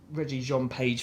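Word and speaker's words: Regé-Jean Page: And this also has how do you pronounce Reggie Jean Page from Bridgerton?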